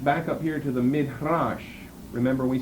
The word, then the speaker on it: midrash: midrash, another verb that concerns exposition, that we pronounce midrash or the midrash.